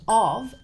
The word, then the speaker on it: of: And of, even though we spell it with an F, it's not pronounced f. It's pronounced with a V sound.